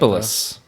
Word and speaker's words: Erysipelas: Oh, I pronounced it right. Erysipelas.